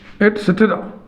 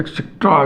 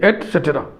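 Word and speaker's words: et cetera: ये बहुत से लोग गलत लिखते हैं, बहुत से लोग गलत उच्चारण करते हैं, एक्सेट्रा एक्सेट्रा जाने क्या क्या बोलते हैं। ध्यान से आप सीख लीजिए एटसेट्रा। अब इसका उच्चारण थोड़ा सा आपको देखना, से टे रा। अब इसमें टे को टेरना नहीं है, सटेरा नहीं बोलना है, इस पे हलंत लगा दो।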